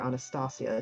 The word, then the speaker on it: Anastasia: benefactor uh anastas uh Anastasia or Anastasia to be more uh correct with the pronunciation uh kind of this